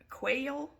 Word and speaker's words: Quayle: name was dan quayle i quail i believe that's how you pronounce his name he went totally ballistic